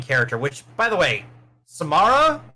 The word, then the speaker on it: Samara: which by the way samara Samara is how you say miss weaving he's